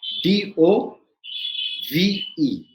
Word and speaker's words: dove: are looking at is d o v e d o v e d o v e can be pronounced as dove as in the bird dove right or d o